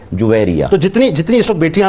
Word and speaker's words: جویریہ: یہ اردو میں ایک عرف ہے اور اس کو اردو کا عرف کہیں گے جو متداول ہو گیا، رائج ہو گیا، ورنہ عربی تلفظ کے اعتبار سے یہ جیم کے پیش کے ساتھ ہے جویریہ.